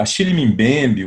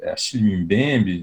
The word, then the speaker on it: Achille Mbembe: A gente começa com um texto do Mbembe, Achille Mbembe, né? Tem várias pronúncias do nome dele, eu chamo assim.